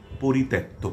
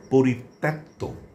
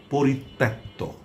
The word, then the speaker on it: পরিত্যক্ত: এই শব্দটির উচ্চারণ অনেকে পরিত্যক্ত পড়েন বা বলেন যা সম্পূর্ণ ভুল। এটি করা চলবে না। আমরা তার উচ্চারণ করব। পরিত্যক্ত। এখানে তটা দত্ত হবে। তর সঙ্গে জফলা যুক্ত থাকার কারণে তার উচ্চারণ দ্বিত হবে। ত দুবার আসবে।